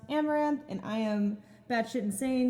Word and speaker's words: Amouranth: hi everyone i'm caitlin my stream name is pronounced amaranth and i am batshit